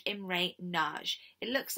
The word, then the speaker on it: Nagy: over there Khrushchev appoints a guy called imre nagy it looks like the word nuggie but it's pronounced Nagy okay now Nagy is a well